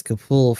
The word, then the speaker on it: Capule: yeah the iron nail so c-a-p-u-l-e on there and it's kapool for the actual names oh